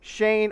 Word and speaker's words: Schoen: that's joe shane yeah he pronounces his name joe shane i promise i looked